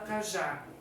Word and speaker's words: cajá: Cajá vai acento porque tem duas sílabas. A última sílaba, que é o já, é uma sílaba tônica, é a mais forte, e vai o acento porque termina em a.